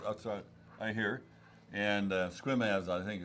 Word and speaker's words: Sequim: Pronounced as Sequim here. I think it's Just pronounce it like it doesn't have an E in it.